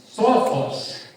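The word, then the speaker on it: σοφός: Sábio do grego é sófos. Essa é a pronúncia mesmo, viu?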